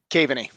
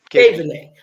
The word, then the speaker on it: Kaveney: Kaveney. Kaveney.